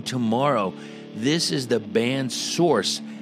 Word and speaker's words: Sorxe: here from the band source source it's spelled SOR X e now this goes out